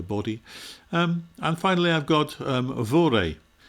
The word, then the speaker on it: vore: And finally I've got vore. Pronounced vor these days, which means simply to eat.